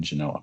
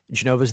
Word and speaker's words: Genova: technically pronounced Geneva but Genova's the Italian way of saying it and dropping the V is the anglophone way of saying it kind of like Torino